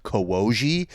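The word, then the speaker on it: Kołodziej: It's not like mine is Kolodziej, but it's pronounced Kowoji. So it sounds like baby talk, like right off the bat.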